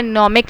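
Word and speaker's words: gnomic: आपने याद रखना है नोमिक लाइंस। जी जो है इसका साइलेंट है, नोमिक लाइंस।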